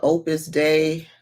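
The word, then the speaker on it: Opus Dei: So when you remember Opus Day, and day is spelled DEI, child. I was calling it DEI.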